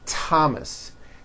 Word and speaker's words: Thomas: Although these next words and names are spelled with a TH, they are pronounced as if they were spelled with a normal T, like that. And these words are Thomas, Thompson, Teresa, Thailand, Thames,